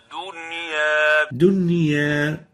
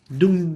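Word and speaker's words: دنيا: example yeah okay and the right way of pronouncing it is like this dunya not doing the dunya is right avoid giving corner to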